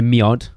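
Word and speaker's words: mjød: Miod. I've literally just told you how to pronounce it.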